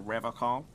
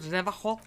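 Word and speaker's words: Revachol: But someone has to stay strong for Revocol. He pronounces Revocol with a hard K, unlike other people. You said Revocol? I like to pronounce it the hard way.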